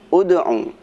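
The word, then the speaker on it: ادْعُ: Seperti bacaan ud'u ila sabili rabbik, huruf ketiganya adalah ain. Ain dibaca dhammah, maka dibacanya ud'u.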